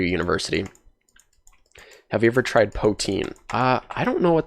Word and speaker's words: poutine: is all of the AMA topics poutine it's pronounced poutine I'm sorry I don't I don't know I